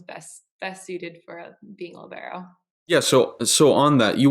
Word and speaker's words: libero: You're a libero, right? Did I say that right? Yes, yeah, you said it right. I'm a libero, so the captain of the backcourt.